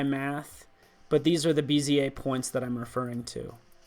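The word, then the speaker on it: Bézier: It's these handles, these bezier handles, basically determined by math, but these are the bezier points that I'm referring to, okay? Or bezier, if you like to mispronounce things.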